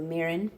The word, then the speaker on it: mirin: apparently there's something called mirin. M-I-R-N, so mirin, or mirin, as it would be pronounced. Traditionally, my accent may not be the greatest, but when I was studying, that's how you pronounce things.